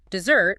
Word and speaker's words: dessert: Dessert with two s's is the sweet dish you eat after dinner. Cake, pie, ice cream. The stress falls heavily on the second syllable, dessert. Desert with a single s